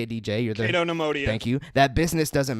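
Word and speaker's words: Cato Neimoidia: I'm probably going to mispronounce this. Cato Nemodia? Cato Nemodia.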